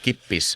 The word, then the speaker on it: kippis: There is actually kippis, which sounds like you can learn. The thing is, just say get pissed really quickly.